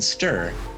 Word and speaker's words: stir: We skip the I in stir almost completely.